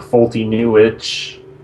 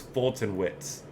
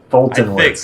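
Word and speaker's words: Foltynewicz: to butcher this, but Fulty Newich. Is that how you say it? I asked Josh about this one because he knows him. I think it was Fulton Witz. Fulton Witz, okay. Very close to that.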